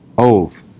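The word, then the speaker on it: אוב: Ov. Oh, It's not Av. My apologies. It's Ov. It's Aleph, Vav, Bet. Ov.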